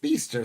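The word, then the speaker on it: Bicester: It's pronounced Beaster.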